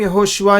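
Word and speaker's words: יהושע: हुआ हूँ मैं, क्योंकि ये लेटर है आइन हिब्रू में, इब्रानी में ऐसे कहते हैं यहोशुआ, थोड़ा नाक से बोलना पड़ता है, यहोशुआ ऐसे कह सकते हैं।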